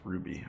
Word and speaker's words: RWBY: Pronounced Ruby.